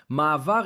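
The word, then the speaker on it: מעבר: Ma'avar is pronounced just like that, ma'avar, okay?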